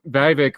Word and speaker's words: Vivek: So you're going to have at least Vivek rhymes with snake, rhymes with fake.